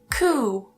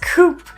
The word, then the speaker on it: coup: And the last one, coup. Coup. For a long, long time, I always thought this was pronounced as coupe.